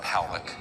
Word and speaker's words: Pollack: This man, William Pollack, his name is pronounced Powlick, was a man, very good man, who gave me an interview only to be released posthumously after he died.